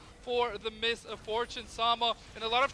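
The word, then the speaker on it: Miss Fortune: how do you say her name Misfortune yeah Misfortune thank you um push the marville with Misfortune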